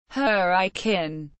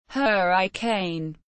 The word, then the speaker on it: Hurricane: Locals pronounce the town Hurricane, not Hurricane.